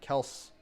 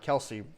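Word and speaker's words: Kelce: like pringle i like kels or i like kelsey whichever way you want to pronounce it i think he said kels is the actual way of pronouncing it and when beckham beckham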